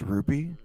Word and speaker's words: RWBY: SaberSpark, it's pronounced Ruby.